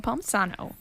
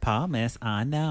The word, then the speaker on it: Palmisano: And I am Palmisano. Palmisano. Palmisano. I got that long... How do you say it, Patrick? Palmisano.